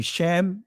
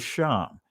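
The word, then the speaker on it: שֵׁם: You see Shem, which is the Israeli pronunciation of it, but the ancient Hebrew is Sham.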